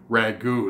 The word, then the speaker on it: ragout: making today is an r AG o UT ragu which difference from the are a GU which